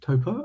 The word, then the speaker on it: Topor: So, my guest today is Laura Topor. Topor? I haven't Yeah, actually yeah, pronounced it yet.